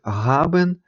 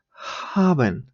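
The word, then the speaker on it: haben: між х і г Тобто це не буде Габен чи хабен то буде хабен хабен ми ще пізніше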